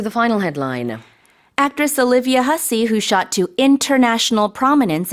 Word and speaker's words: Hussey: Alright, let's talk about the actress Olivia Hussey. In Olivia Korea, we say Hasse, but it's a different pronunciation.